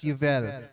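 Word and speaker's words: יובל: Jubilee or sa Hebrew yvel No they pronounce this as yvel ang Jubilee year for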